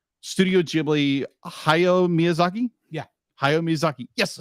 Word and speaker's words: Hayao Miyazaki: And it's so, I'll be like, I know other films have done this, but how Studio Ghibli, Hayao Miyazaki, yes, I said it right.